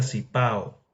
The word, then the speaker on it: Cibao: Y él como cibao, cibao. Ellos dicen cibao, pero se pronuncia sipao. Entonces, sipao, sipao, sipango.